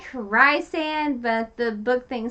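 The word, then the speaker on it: Rhysand: a new character we meet it looks like rice and but the book thing says it's pronounced the book prince nation dress is pronounced recent or Reese so he's actually her Savior the beautiful faith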